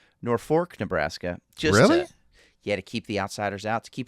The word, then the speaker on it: Norfolk: Uh or they call it's it's spelled Norfolk, but uh if you're from Norfolk, uh they pronounce it Norfork. Norfork, Nebraska.